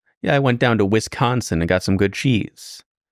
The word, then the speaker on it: Wisconsin: say Wisconsin sure yeah it's a little too much emphasis on the con you know that's what